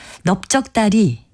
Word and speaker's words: 넓적다리: 이 경우에는 리을 비읍 받침을 쓰는 것이 맞습니다. 넓적다리로 발음되는 것에서 그 이유를 찾아볼 수가 있는데요. 겹받침 중에서 뒤에 자음이 발음되면 어간의 형태를 밝혀서 적도록 돼 있기 때문입니다. 넓적다리의 경우 리을 비읍 받침 중에서 뒤에 자음인 비읍으로 발음이 되니까요. 리을 비읍 받침을 그대로 적는 겁니다.